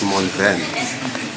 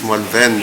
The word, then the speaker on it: Malvern: It's Malvern. It's Malvern and not Malvern.